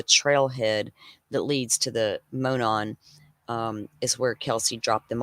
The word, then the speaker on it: Monon: We all know the unseasonably warm day they took a walk on the Monon High.